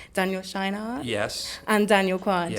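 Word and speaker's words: Scheinert: Tell me if I'm pronouncing this wrong, but it's Daniel Scheinhardt.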